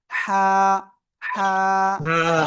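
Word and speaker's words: ح: শুরু না, গলার মধ্যখান থেকে এই অক্ষরটা উচ্চারণ হবে। গলাটা চেপে হালকা মুখ দিয়ে বাতাস বের করে উচ্চারণ করতে হবে।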